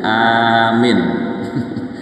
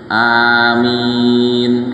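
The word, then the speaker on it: آمين: Memanjangkan hamzah, kemudian meringankan mim, mimnya diringankan, kemudian bacanya miring. Jadi A-nya panjang, Mi-nya pendek, dimiringkan. Jadi amin.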